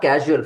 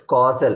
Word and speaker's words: causal: Not casual, first of all. It's causal. It causes.